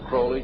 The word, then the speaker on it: Crowley: about with Alistair Crawley he likes to bring have his name pronounced Crowley to rhyme with holy and the satanists today